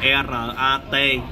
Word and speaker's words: Ratvithi: Ratviti là đọc là Ratvithi.